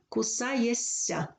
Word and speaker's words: кусаєшся: із свиссячих звуків то під впливом наступного звука шиплячий перетворюється на свистячий звернемо увагу на слово кусаєшся кусає шишся ш шиплячий